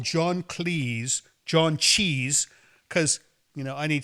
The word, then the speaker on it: Cleese: However, for many years, I called John Cleese John Cheese because, I need spectacles to read the credits, and I always thought it was Cheese. That's a funny name, John Cheese. And I found out it's Cleese, which, who knows.